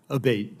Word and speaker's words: Abbate: am I saying your name properly we've it pronounced three different ways today in the hearing aate Senator aate okay thank you um you had